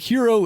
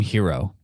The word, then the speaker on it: Hiro: Because that is like how Japanese pronounce R's. It's got like a little D sound.